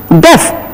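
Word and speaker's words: deaf: न व गो टू डफ the spelling कंटस ई A again but इट इज नॉट डी बट वी are saying it एज डेफ so this is Attlee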